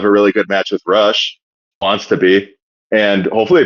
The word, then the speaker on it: Rush: Is it Rush or is it Roo? Rou. Okay. Well, yeah, if you want to be, you know, phonetically correct, I suppose.